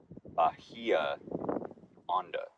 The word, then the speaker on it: Bahia Honda: pronouncing it wrong it's Bia on on there's no h Bahia Bahia on been